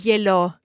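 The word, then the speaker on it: gliel'ho: verb to have, o, because H is mute, to avoid gliela o, which is a bit tricky to pronounce. There are two vowels. We can just drop the final a of gliela, have an apostrophe, and run it all together and say glielo.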